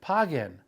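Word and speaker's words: paguen: So the command is page, and the group command, add an N, pagen, page and pagen.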